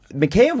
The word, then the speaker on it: Mikheyev: people keep calling macaé I'm gonna call them mikheyev cuz I think that's how you actually pronounce it I'm listen I had a Russian tell me it's McKay okay so okay until I'm